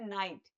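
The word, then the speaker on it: knight: English में जैसे के एन आई जी एस टी इसको हम बोलते हैं नाइट तो के क्या है इसमें साइलेंट है इसका मतलब होता है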